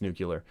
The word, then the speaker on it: Nucular: current record was uh set by someone named nucular uh fantastic nuclear it is pronounced nuclear uh which record now